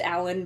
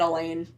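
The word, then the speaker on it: Alain: think it's really just pronounced Alan, but that I in there, I've just been pronouncing it Elaine, Elaine.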